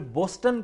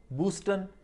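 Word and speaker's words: Boston: जिस तरह बोस्टन कहते हैं लोग, बूस्टन, बॉस्टन, ये बॉस्टन है, बॉस्टन।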